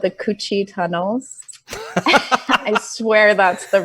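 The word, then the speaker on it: Cu Chi: do it down at this place called the coochie tunnels I swear that's the real name yes but it's spelled Cu space c-h I do Chi Tunnels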